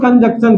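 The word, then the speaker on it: conjunction: अभी बात करते हैं मेरे दोस्त कंजक्शन की। बोलो कंजक्शन। इसका उच्चारण होता है कंजंक्शन, लेकिन हम बोलेंगे कंजक्शन।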